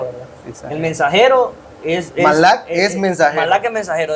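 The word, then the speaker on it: מלאך: Si no, sepa de que la palabra mensajero en el original hebreo es Malak. Tal vez no lo pronunciamos igualito, pero Claro. se dice Malak.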